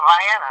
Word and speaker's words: Vienna: Vienna, Ohio. Am I correct? Yeah, Vienna. That's how you say it, Vienna.